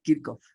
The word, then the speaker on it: Kirchhoff: Paul Kirchhoff. Sí, es que es austríaco el señor, Kirchhoff.